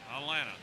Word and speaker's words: Atlanta: We've discussed the silent T's in the native pronunciation of Atlanta. Atlanta.